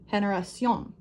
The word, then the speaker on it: generación: Generation, make sure you pronounce this sound, generation. It kind of sounds like the J, as in the word giraffe, generation. Generation, emphasis or stress on this syllable, generation.